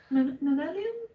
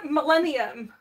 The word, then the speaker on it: millennium: Manelium? What? Manelium. It's not. It's the millennium.